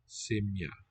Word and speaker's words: сім'я: Simya. Seems like two syllables.